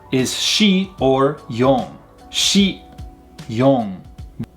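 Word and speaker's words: 四: 4 is shi or yon. Shi, yon. This in sound in yon is the same way. It's not yon, it's yon, kind of said nasally in the back of the mouth again.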